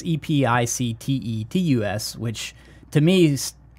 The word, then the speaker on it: Epictetus: I mean this is it's a weird spelling it's epi CTE to us which to me sounds